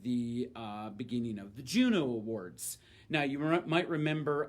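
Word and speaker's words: Juneau: and they were actually named for mr pierre juno although in that case spelled like the city in alaska and he was the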